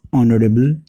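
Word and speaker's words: honourable: ही इज अ ऑनरेबल मैन। यहाँ ऑनरेबल, चूँकि H silent है और प्रोनाउंसिएशन यहाँ वोवेल की तरह हो रहा है, इसलिए इसके पहले अ नहीं बल्कि एन आर्टिकल होगा।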